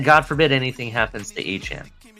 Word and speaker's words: Achane: You have Achane. Yes, it's pronounced Achane. You have Achane, and you have Mostert, and we have Jeff Wilson, and we have Brooks.